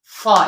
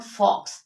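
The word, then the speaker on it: faux: word is their way एक्स इ silent it इ pronounce S फ फा इट इ नॉट फॉक्स इट इज फा द नेक्स्ट वन इज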